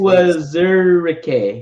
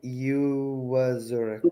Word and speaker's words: Uwazurike: Yeah, pronounce the same, please. Uwazurike. Ioma Uwazurike.